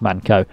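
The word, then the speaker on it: Mann Co.: that suit one another i think it's in manco manco i think you pronounce it it should be pronounced manco yeah you're in manco almost tippity-top but not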